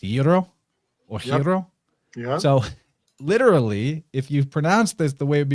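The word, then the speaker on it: gyro: at the front now when in Greek you see the letter gamma at the beginning of a word it typically functions as a y so it's like the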